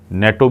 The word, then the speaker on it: natto: एक जापानी डिश है एक नेटो भी कहते हैं नाटो भी कहते हैं आप पे आप पे है कि आप क्या उसको प्रोनाउंस करते हैं तो ये